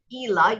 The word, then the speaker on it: إلى: So ila, you'll notice that on the aleph, we have hamza on the bottom. So it changes the sound that the aleph makes.